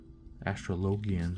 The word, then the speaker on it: Astrologian: Astrologian, sorry. I know that's the correct pronunciation.